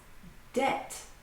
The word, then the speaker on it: debt: The final B is silent. Bomb. Debt.